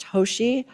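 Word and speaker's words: Tosi: Then Will FaceTimes his wife, Christina, I believe her name is pronounced Toshi.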